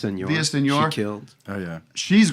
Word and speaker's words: Villaseñor: How do you say her last name? Villaseñor.